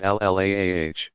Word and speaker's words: Allah: That power they called the god, al-ilah, or Allah, pronounced al-laah.